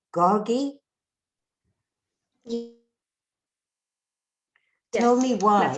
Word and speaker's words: Gargi: Gargi?